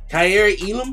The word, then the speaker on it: Kaiir Elam: we got jamison williams kyrie elam that's how you pronounce the name in this uh josh